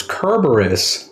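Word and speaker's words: Cerberus: away it's fluffy it's it's kerberus cuz that's how you're supposed to pronounce it kerberus oh I call him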